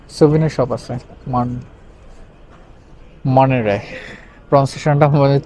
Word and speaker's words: Monterey: সো আমি এখন আছি মনটেরি, সেটা পঞ্চাশ হচ্ছে মনটেরি, MONTERY, সো টির উচ্চারণটা হয় না, এটা মনেরে।